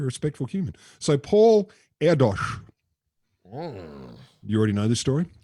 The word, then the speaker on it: Erdős: you should you're a respectful human so paul erdosh you already know this story i know his